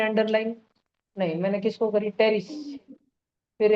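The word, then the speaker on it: Pteris: फिर है terrace. P silent. P को करी क्या मैंने अंडरलाइन? नहीं। मैंने किसको करी? टेरिस।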